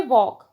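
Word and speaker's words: walk: Next है वॉक, वॉक में L silent है, इस पर सर्कल करेंगे।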